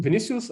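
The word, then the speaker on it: Vinícius: Vinicius, if I'm pronouncing that correct. Yes, you're almost correct. I'm Vinicius. I'm from Brazil.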